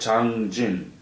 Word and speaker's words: Changjin: It's actually man-made lake and it's called Changjin. And Chosen is a Japanese pronunciation.